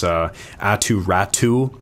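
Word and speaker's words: Aatu Räty: There were a few that kind of got me, which was Atu Ratu. I forgot that's the way that he likes his name pronounced, apparently.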